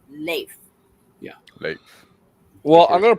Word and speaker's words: Leif: No, there in this article that I read last night said that it's not pronounced Leaf, it's Leif.